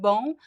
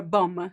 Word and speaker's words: bom: There's no m sound in the word bom.